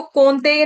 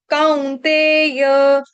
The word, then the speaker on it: कौन्तेय: एतैर्विमुक्त, एतैर्विमुक्त, उसके बाद इसको कौन्तेय नहीं पढ़ेंगे, इसको पढ़ेंगे काउ। काउंतेय, कौन्तेय नहीं गाएंगे, काउ।